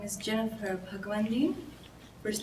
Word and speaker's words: Bhagwandin: uh maybe jennifer first my name is jennifer bhagwandi first name jennifer last name b h a